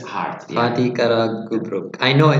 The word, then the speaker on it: Fatih Karagümrük: Fatih Karagümrük. It's hard. Fatih Karagümrük. I know it's hard. That's why we are doing this session. Fatih or Fat? Fatih is this city of the area. Yeah. Fatih Karagümrük.